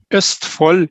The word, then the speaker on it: Østfold: How does it pronounced the university? Østfold University College.